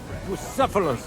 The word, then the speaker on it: Bucephalus: It's pronounced Bucephalus, which comes.